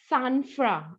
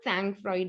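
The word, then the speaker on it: sang-froid: of this word okay it's san fran okay again a french word san fran okay it's not sang freud okay sanford okay but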